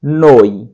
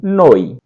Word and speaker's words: noi: उसके बाद होता है हम सब के लिए होगा नोई, NOI, नोई बोलेंगे इसको नोई।